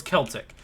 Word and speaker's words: Celtic: help someone with their homework the other day pronounced with a k okay so it's celtic okay that's interesting celtic myths and what was